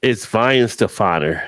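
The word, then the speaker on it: Weihenstephaner: It's Weihefenstefener is how you And pronounce it. Shouldn't it be a V instead of a W at the front? But in Germany, the W's are pronounced as V's.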